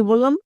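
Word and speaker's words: blue: আরেকটাতে মাঝে আছে তাহলে কখন কোনটা হবে এক্ষুনি বললাম ইউ থাকলে তার জন্য হস্বীকার করব এবং শেষের ই টাকে সাইলেন্ট করবো জাস্ট একটু আগেই নিয়মটা দেখে আসলাম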